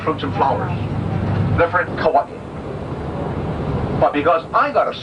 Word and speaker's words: Hawaii: hundred times a day I find a more easy or more lazy Way by just playing Kawaii but Kawaii would be the right pronunciation oldness of the eight